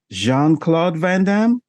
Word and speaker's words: Jean-Claude Van Damme: very goddess yeah okay I thought it was Gene it's spelled Gene I'm just a hopeless American like that but what do I know Jean it is um yes big star